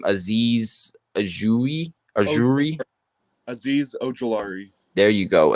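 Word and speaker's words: Azeez Ojulari: uh how do you say this guy's name aziz ajui there you go aziz ogilari um out of georgia he's obviously the sleeper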